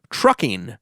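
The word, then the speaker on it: Truckin': dance the ad reads trucking by the grateful dead is rising from the dead's american beauty album on warner's keep on the correct pronunciation of this to soon is truckin but truckin wasn't intended to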